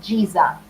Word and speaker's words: Giza: And I Okay, think the so guys, pronunciation is Giza, Great Pyramid of Giza.